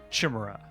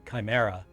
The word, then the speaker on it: chimera: And I would try to tell people, I think it's pronounced chimera, and they're like, no, it's a CH.